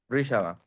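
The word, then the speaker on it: Rishabha: rey eh shaba se se pronuncia shava rish shaba rishab tal como el rey rishab se lo indicó a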